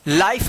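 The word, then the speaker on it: life: के उच्चारण नियम में लाइफ इसको पढ़ेंगे। एल आई एफ ई लाइफ और ये लास्ट वाला जो है ना साइलेंट रहेगा ई।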